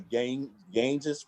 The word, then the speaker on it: Ganges: dressed in red and they go to the Ganges. How do you say that? Ganges Ganges, River.